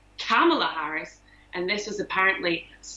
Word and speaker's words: Kamala: her kamala harris and apparently it's it's more like how americans say the word comma so like the punctuation but of course i